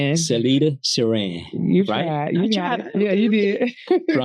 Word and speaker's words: Cellita Ceran: Today I'm fortunate to have my guest, Miss Celita. Did I pronounce it right? Was that right? You were close. Celita Saran. Celita Saran.